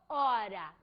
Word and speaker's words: horas: Minutos ou horas. Por quê? porque o H no espanhol, foneticamente falando, é mudo.